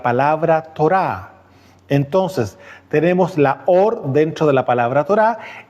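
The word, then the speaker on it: אור: palabra luz se acuerdan Cómo se dice en hebreo or No es cierto es una o y una r se lee or No es cierto y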